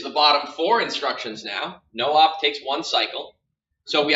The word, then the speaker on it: NOP: two instructions here called NOP pronounced no no operation no op literally does nothing for